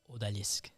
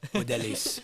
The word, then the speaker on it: Odalisque: Odalisque. Oh, that's so sexy. Odalisque.